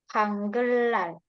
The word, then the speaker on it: 한글날: Jadi bacanya 한글날. Ada ria dan 한글날. nya dibacanya lar. 한글날.